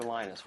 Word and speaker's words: Linus: came along lenus or Linus what's the exact your preferred pronunciation um when I speak Swedish it's enus when I speak Finnish it's lenos when I speak English it's lonus and I really don't